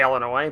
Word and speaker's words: Illinois: it when somebody's like has to say Illinois but they decide to pronounce the S yeah they use the s for note for no reason stop please I've literally